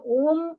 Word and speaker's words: ஓம்: நாம் அதை சரியான முறையில் உச்சரிக்க வேண்டும். ஆ என்று சொல்லும் பொழுது அந்த ஆ எமது அடி தொண்டையிலிருந்து எழ வேண்டும். பிறகு அந்த ஊ என்று சொல்லுவது எமது வாய் முழுவதையும் அதை நிரப்ப வேண்டும்.